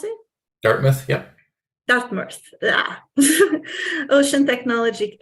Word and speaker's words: Dartmouth: also co-founder of Dartmouth is that how you pronounce it Dartmouth yeah Dartmouth yeah Ocean Technology Inc uh developer